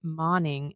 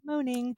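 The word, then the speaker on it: Moning: author is Karen Marie moing and I've been pronouncing her last name like moaning uh and you said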